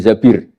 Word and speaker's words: Zabir: nikah sama Abdurrahman bin Zabir di hadis ini bukan Mbak Bacanya bukan Zubair tapi Zabir.